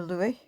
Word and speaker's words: Liu: And it was designed by Anna Louie. I think I've spelled that right. Said that right. It's spelled L I U and Mike Tonkin.